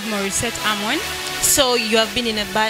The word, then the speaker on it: Morissette: Morissette. It's not Morris. Leave Morris alone.